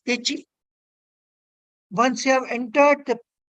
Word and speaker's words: deqi: Now, this is what I was telling you, the Techi, spelled as Deqi, pronounced as Techi.